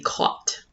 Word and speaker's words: caught: In essence, they can be caught. Caught is spelled C-A-U-G-H-T. The G is silent, therefore a space between two consonants can be a letter. Since we don't hear the G in caught, I'm going to add